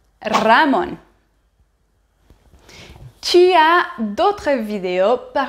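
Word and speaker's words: Ramón: Néanmoins, si le ER espagnol se trouve au début du mot, il faut le doubler. Il faut doubler le son. Par exemple, rosa ou Ramon.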